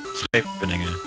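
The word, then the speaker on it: Scheveningen: Schepeningen.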